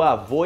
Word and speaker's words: avô: uma vez por todas como pronunciar avô e avó, ok? O-O. Um é grave e o outro é agudo.